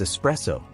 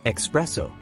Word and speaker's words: espresso: you pronounce this one it is pronounced as espresso usually mispronounced as espresso espresso is a concentrated coffee beverage the word originates from Italian where there is no X sound in the spelling or pronunciation for example I start